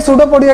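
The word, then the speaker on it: pseudopodia: सूडो पोडिया। ठीक है ना? नाम याद रखना पी साइलेंट होता है।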